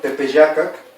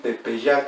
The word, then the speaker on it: Tepeyácac: aquí tepeyácac pp acá desapareció este sonido y el final y entonces lo voy a decir tepeyac a que hicimos pp